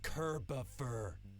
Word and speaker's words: Kerboffer: Dude, I've told you like 11 times now, it's pronounced Kerboffer. It's like Christopher, except Kirbier.